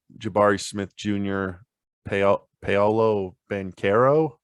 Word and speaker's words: Banchero: It seems like Jabari Smith Jr., Paolo Banchero. I think it's a hard C sound, not the for the record, sound.